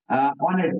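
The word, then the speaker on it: honest: আবার যদি বলি অনেস্ট ম্যান, অনেস্ট তো অ্যাডজেক্টিভ যদিও আমরা একটা ম্যান ম্যান যোগ করে নিই নাউন, তাহলে এইচ আছে অনেস্টের আগে কিন্তু উচ্চারণ হচ্ছে না, অনেস্ট হচ্ছে।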